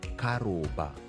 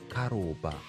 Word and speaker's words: Karumba: So when my name Karumba is pronounced in vernacular, it's pronounced Karoba. Karoba. So it sounds like crowbar.